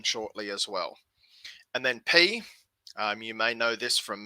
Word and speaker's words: pi: better but from math you usually call this pi in maths in greek it's pronounced p um so we'll stick